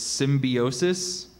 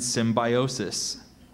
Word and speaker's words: symbiosis: various mutually beneficial relationships are there any alternate pronunciations so there's symbiosis and symbiosis symbiosis s y m